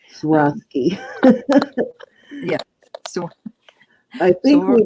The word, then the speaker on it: Swarovski: This is Swarovski.